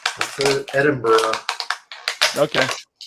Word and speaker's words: Edinburgh: There's no O at the end. That's Edinburgh.